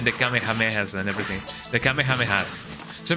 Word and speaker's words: Kamehameha: The Kamehamehas. So, people say Kame Kamehameha and I don't like that. I I just say Kamehameha because you know that's how we used to pronounce it in in in here.